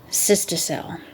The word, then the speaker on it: cystocele: Uterine prolapse can be accompanied by prolapse of the bladder and anterior vaginal wall called cystocele.